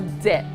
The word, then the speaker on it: debt: he raise Texas is depth or debt debts remember that B is silent good summer how would